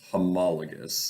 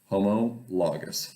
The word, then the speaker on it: homologous: together all right we call them homologous pairs homologous that's how you pronounce it homologous homologous pair of chromosomes they're lined up right